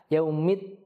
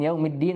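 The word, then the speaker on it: يَوْمِ الدِّينِ: ya Maliki yaumiddin Kemudian pada huruf Dal kita perhatikan tasdidnya yaumid ditahan yaumiddin dan huruf Dal kita tidak menghembuskan udara yang e banyak ketika mengucapkannya karena ia bisa tertukar menjadi ta yaumit th th itu kalau kita hembuskan udara dia akan tertukar dengan ta dan artinya jadi berbeda attin artinya buah tin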